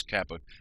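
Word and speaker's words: Chiappa: musket by chopper arms it's spelt choppa but it's Kappa but uh just want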